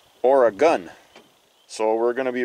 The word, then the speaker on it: Oregon: not supposed to say origon it's not how it's pronounced from people who live in Oregon I was told it's supposed to be pronounced or a gun so we're going to